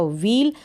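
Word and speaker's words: wheel: आ गया होगा यह व्हील इसको आप पढेंगे डब्लू एच डबल है इसको बड़ा जाएगा व्हील यहां पर भी व्हील इस मैच का उच्चारण प्रदर्शन नहीं हो रहा आप सिर्फ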